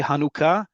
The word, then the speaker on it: Hanukkah: That second vowel is oo. Okay, and once you pronounce it as oo, and then even better, put the emphasis on the last syllable, which is a hallmark of modern Hebrew, you'll say it correctly.